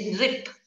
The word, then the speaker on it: नृप: जैसे नृप, री, री बोलने में आएगा क्री। क के बाद में री बोलेंगे क्री।